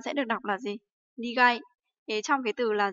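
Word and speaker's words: 苦い: Thì với cái từ này thì chúng ta sẽ được đọc là gì? Nigai.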